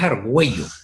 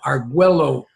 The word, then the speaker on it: Argüello: Me quedaba, al americano, el inglés, para él, en la doble L estamos en una pronunciación de L, y no tienen ellos eso de la diéresis con el argüe. sino que dice Arguello, y Sí, se queda.